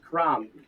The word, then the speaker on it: crumb: Guilherme, crumb. Crumb. Good. And just one thing real quick here. I want to double check here because you don't pronounce the B. Yeah, it's crumb. You don't pronounce the B.